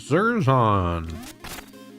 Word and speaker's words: Zerzon: My name is Zerzon. rhymes with Amazon.